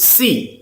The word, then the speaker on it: SEI: Fifth and the last altcoin which I want to tell you is C, which is pronounced it is called as SEI.